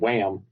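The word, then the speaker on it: Wham!: I like I mean, it's called Wham. And I love the fact that Deadpool is just like, "No, you're saying it wrong. It's Wham. It's not Wham, it's Wham." How many sales Wham got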